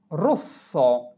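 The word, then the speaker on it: rosso: যদি শব্দের মধ্যে দপিয়া এস বা দুইটা এস পাশাপাশি থাকে তবে এস এর উচ্চারণ সর্বদা স এর মত করে করতে হবে। যেমন রস রস রস মানে লাল এরে ও এস রস এস ও স রস মানে লাল।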